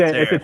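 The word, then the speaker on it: Şerif: It's a Serif. Turkish name, so it's written as serif, like the font Yep. type, right? But the S has a dot underneath, and that creates that sh sound.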